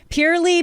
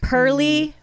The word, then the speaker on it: pearly: bad at words okay purely penile papules do i pronounce it like pearl pearl pearly because they look pearlesque pearly penile papules yup okay